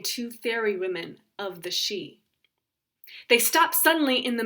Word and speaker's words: Sidh: stolen baron and the she the word baron means child and she is spelled s-i-d-h so if you see it written out somewhere you might not think it is pronounced she but that's the way